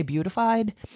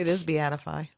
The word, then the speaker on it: beatified: I want to say beautified.